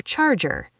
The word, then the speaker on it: charger: Can I borrow your charger? Deep dive. Borrow. The first O is open. Borrow. Charger. Stress the char.